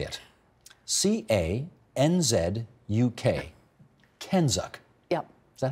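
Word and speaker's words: CANZUK: Kenzuk.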